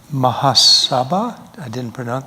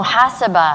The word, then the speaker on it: muhasaba: You mentioned Mahasabha. Did I pronounce it right? Ingrid? I didn't pronounce it right. Yeah, because I like culture. The accent's on the wrong part. Mahasabha? Oh, muhasaba.